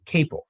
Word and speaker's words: Capel: Our guest today is Cable. Rhymes with staple.